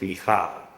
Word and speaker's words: Michal: During her time in Israel, she reclaimed Michael as her first name, but in more Israeli flair, she pronounced it Michal.